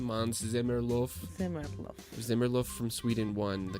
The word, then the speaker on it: Måns Zelmerlöw: Do you remember how to pronounce that name? Måns Zelmerlöw.